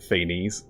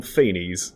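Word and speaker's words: Phanes: Feaines. No, I'm not going to call him Fenies, even though I know that's Greek accurate. Feain cuz it rhymes. It sounds like FA.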